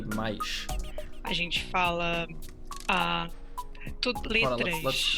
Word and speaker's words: mais: A gente não fala mas, a gente fala mais. Mais. We don't say mas, we say mais.